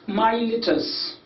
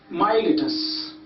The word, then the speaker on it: Miletus: What we call that town is Miletus. Miletus. So it's my pronunciation, letus. It's Miletus, Milesian school, that town.